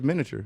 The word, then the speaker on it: miniature: miniature that's not true it's that the i is silent i don't know why